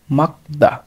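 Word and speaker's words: 맑다: তাহলে এখানে উচ্চারণ হবে মাক, মাক, তার সাথে দা, মাকদা। এটির উচ্চারণ হবে মাকদা, মাকদা অর্থ রোদেলা, মাকদা অর্থ রোদেলা অথবা পরিষ্কার আকাশ, এরকম।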